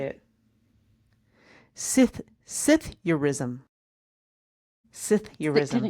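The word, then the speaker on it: psithurism: Sith Sithurism. Sithurism. Can Can you spell that, please? Oh, that that gets even better. P S I T H U Rism. Cytheism.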